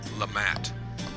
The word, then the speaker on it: LeMat: Some people might say LeMat, but I believe the pronunciation is correctly said LeMat by the person who invented it. I believe that is how his name was pronounced, so that's how you say it, okay?